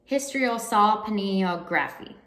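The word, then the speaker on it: hysterosalpingography: an hsg which i just googled how to pronounce that word and it is a hysterosaur pineal graffi and this is a test where they bring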